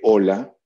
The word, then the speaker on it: hola: Entonces comparamos, como cuando hacen ortografía, tú sabes que hola, cuando dices hola, ¿qué tal?, se escribe con H. Pero fonéticamente, la ola de hola, ¿qué tal?, y ola de la ola del mar se pronuncian igual.